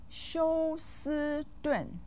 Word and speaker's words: 休斯顿: 休 with the 1st tone, 斯 with the 1st tone, and 顿 with the 4th tone.